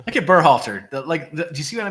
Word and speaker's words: Berhalter: Look at Berhalter. Do you see what I mean about the shape of his neck? Berhalter's.